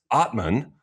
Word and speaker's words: Atmane: On today's podcast, we have the left-hander, the Cincinnati semifinalist from last year, Terrence Atmane. First of all, did I pronounce that correctly?